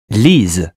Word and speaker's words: Lise: A single S in French is pronounced Z, and a double S is pronounced S. Lise. There's only one S because the sound is Z as in zebra.